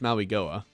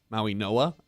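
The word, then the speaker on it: Mauigoa: Instead, they go with Francis Maui Goa. Maui Noah, I believe, is actually how you pronounce it.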